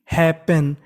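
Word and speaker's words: happen: अब देखिए जो आगे वाली मीनिंग है उसमें पी 2 बार लिखा है, तो पी का उच्चारण केवल हमें एक बार करना है। कितनी बार करना है? एक बार।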